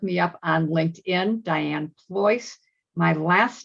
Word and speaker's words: Pleuss: can also look me up on linkedin dianne ployce my last name ployce is spelled p l e u s s as